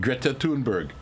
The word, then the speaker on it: Thunberg: Broadcast of the Swedish climate activist Greta Thunberg.